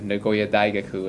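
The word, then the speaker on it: 名古屋大学: And so I had the opportunity to go to Nagoya Daigaku, is how they say it in Japanese, the university.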